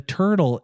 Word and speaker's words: TRTL: Yeah, the turtle, it's spelled T. It's spelled TRTL, I believe.